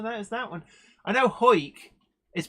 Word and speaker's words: Howick: me go oh there's that one I know hoik is pronounced is written Howick h-a-w-i-c-k but it's pronounced